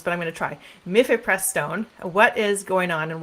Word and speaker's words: mifepristone: So let's start with, I'm going to mispronounce this, but I'm going to try. Mifepristone.